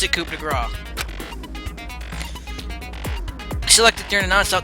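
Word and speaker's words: coup de grâce: Why is it grace? It should be coup de grace. Why is there a C? And that's how it's always spelled. And we just pronounce it coup de grace.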